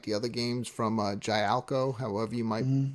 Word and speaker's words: Gaelco: the other games from Gialco, however you might pronounce that developer's name. Who is that? Like an Italian? I've heard developer? Gaelco and I've heard Jalico. Jalico. I've heard Yeah, several but different ways.